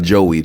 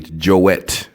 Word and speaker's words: Joet: pronouncing his name wrong it is j OE t it's not Joey joette Gonzalez this guy is